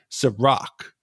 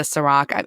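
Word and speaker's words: Cîroc: joke on this podcast for the way I pronounce things but I will try to say Ciroc for the rest of the season I like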